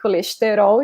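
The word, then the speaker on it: colesterol: in portuguese we say coalestero okay so every brazilian will say like this cholesterol you can pronounce like colestero if you are from real but notice that the vowels are really emphasized but if an european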